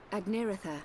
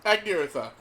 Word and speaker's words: Agniratha: Yes, Agniratha, Agniratha.